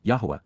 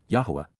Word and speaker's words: Yahowah: Right from the beginning, Tchila at the point in time when this started and from the first, Yahwa, Yahwa, the proper pronunciation of YHWH, spoke, communicating, dabber, verbally expressed using words to convey, peel, perfect.